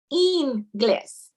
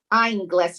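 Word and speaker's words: inglés: term to know and the i in spanish is pronounced as e that's why it's spelled i-n-g-l-e-s but it's pronounced in gliss instead of iron glass or whatever it's english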